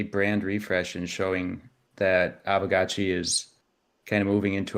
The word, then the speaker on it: Aavegotchi: Wait, how do you pronounce it? Aavegotchi. Aavegotchi.